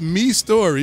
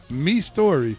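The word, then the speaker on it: Mistory: oh wow create but it is pronounced me story but it spell em I sto ry if y'all ready when you say mystery yes me story wow thanks Crick even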